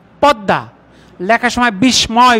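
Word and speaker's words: পদ্মা: অফটেন উচ্চারণে অফেন তাই বাংলায় লেখার সময় পদমা উচ্চারণে পদ্দা লেখার সময় বিস্ময় উচ্চারণে বিষময় লেখার সময় গৃষ্ম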